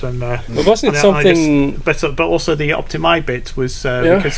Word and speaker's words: Optimæ: optimi bit was uh it's spelled with the A and E in the book and my Icelandic friend called IA and he spelled with that with that letter which in Norwegian is a and that is the original old nor uh way of saying it is is I and not a and also the uh